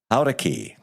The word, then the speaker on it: Jaurequi: Now, Sage, I'm going to see if I pronounce this right. Sage Jaurequi.